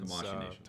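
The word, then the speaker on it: Tamashii Nations: Tamashi Nations, that's right.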